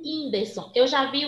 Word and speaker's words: Whindersson: Estão vendo aí que é um Wzinho o som? Enquanto no I é um Y. Por exemplo, na palavra Whindersson. O Whindersson.